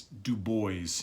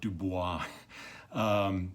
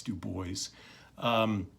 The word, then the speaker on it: Du Bois: boys as I'm sure you've noticed and it's Du Bois not Du Bois so anyway that's how he pronounced it so it's Du Bois just a truly truly remarkable man anyway so